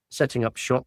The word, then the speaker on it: Setting up Shoppe: us on the Patreon setting up shop. Shop is spelled sh h o pp p e.